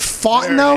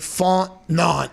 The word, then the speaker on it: Fontenot: was just trying to how do i pronounce terry fontenot fought though yeah man i was going straight font none i was trying to